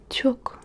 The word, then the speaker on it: çok: Et merci beaucoup, c'est çok teşekkür ederim. Çok. Çok, c'est beaucoup. Çok. Et ça s'écrit C-O-K. Mais C. O-K. Çok.